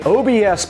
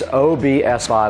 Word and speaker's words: OBSBOT: But today, OBS, now I did pronounce that incorrectly in the last video. It's OBSOT. I was calling it OBS. It is not. It's three separate letters when you pronounce it.